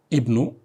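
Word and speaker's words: ابنُ: Ibnu man anta. Whose son are you? Whose son are you? Ibnu man anta. It begins with Ibnu. We have to pronounce the alif. Alifun kasra, Ibnu.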